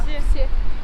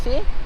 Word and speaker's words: все: Извините, может сказать, как произносится это слово? Который? Это, да. Вот это? Да. Все. Се?